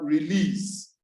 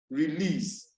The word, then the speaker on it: release: But if I realize that it is a verb, automatically or usually the stress will be on the last syllable.